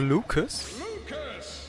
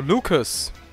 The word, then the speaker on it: Lucas: Sagt er sogar Lucas? Okay, also es wird sogar Englisch ausgesprochen. Also, Lucas.